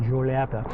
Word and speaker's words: Giulietta: the Alfa Romeo Giulietta, you have to say it like that, Giulietta, is that you've got a proper tread pedal.